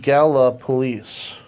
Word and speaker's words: Gallipolis: It's pronounced Gallipolis.